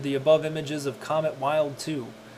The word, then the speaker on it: Wild 2: above images of comet wild 2 or pronounced built to on January 2nd 2004